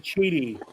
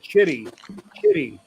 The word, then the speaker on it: QIDI: Yeah, that printer, Sam, I pronounce it Cheedy.